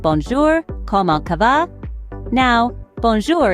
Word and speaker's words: bonjour: Now, bonjour is pronounced bonjour, with a soft J sound.